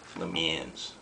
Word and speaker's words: Le Mans: they remind one of Le Mans. That's the American pronunciation. Le Mans.